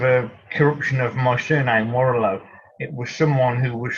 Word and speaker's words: Warrillow: born out of a corruption of my surname warlow it was someone who was struggling to pronounce warlord correctly and they they started calling